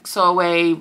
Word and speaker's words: Sorwe: So he trains Sorwe, rhymes with doorway, to be his, I